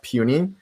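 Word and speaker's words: pUNI: kind of funny because if you add a p to uni it's it's pronounced puny so i don't know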